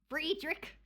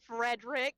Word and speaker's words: Fredrik: Friedrich. Friedick. Friedrich. That's how you say it. He's from Sweden. Don't Americanize him. He's not Frederick.